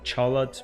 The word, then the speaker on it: Charlotte: next one we have Charlotte in English we'll pronounce it Charlotte but in French we have more uh linear pronunciation Charlotte and yeah this is